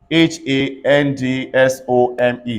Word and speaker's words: handsome: HANDSOME, say handsome.